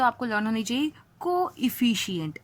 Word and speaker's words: coefficient: कोइफिशिएंट, इसको पढ़ेंगे कोइफिशिएंट, एंड in regular you will be just reading is इट एज कोफिशिएंट.